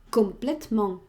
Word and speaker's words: complètement: Pues primero hago un adjetivo, complet, yo pronunciaría primero complet, luego el femenino complet y después le meto un man, complètement. No es correr, es complètement, es leer lo que tenemos, ¿vale?